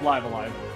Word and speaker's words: Live A Live: It's pronounced Live Alive.